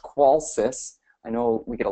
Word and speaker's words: Qolsys: quick introduction of who qualus is uh it's pronounced qualis I know we get a lot of interesting